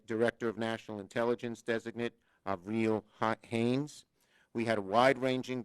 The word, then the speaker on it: Avril: In addition to Tony Blinken and Avril Haines, she corrected my pronunciation, it's Avril, President-elect Biden continues to roll out an impressive slate of nominees to his cabinet and other key administrative positions.